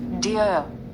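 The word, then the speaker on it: dear: ये हो गया डि डियर डियर डियर नहीं कहेंगे डिय डियर तो इंग्लिश में ध्यान दीजिएगा जहां लास्ट में आर आता है आप र का उच्चारण कम कर देंगे हाफ कर देंगे इस बात को ध्यान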